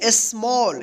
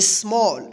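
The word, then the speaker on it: small: स्मॉल। क्या पढ़ेंगे? स्मॉल।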